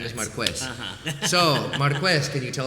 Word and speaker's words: Marquez: His name is pronounced Marquez, even though many people here are going to remember him as Marquez.